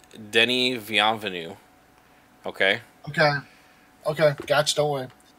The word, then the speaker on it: Denis Villeneuve: Actually, I'm gonna give you pronunciations before you read the name. It's Denis Villeneuve.